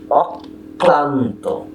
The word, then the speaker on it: অক্লান্ত: উচ্চারণও অবিকৃত থাকে, যেমন অক্লান্ত, অক্লান্ত, অম্লান, মহাবিপ্লব, অশ্লীল, অশ্লীল। কি হলো? অক্লান্ত। এই কয়ের সঙ্গে ল ফলা যুক্ত হয়েছে বলে এই কটি দুবার হয়েছে, অর্থাৎ প্রথমে একটি ক,